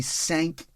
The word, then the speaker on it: cinq: It's actually cinq sapage. In Cinq French, sapage. 5 is pronounced Yes.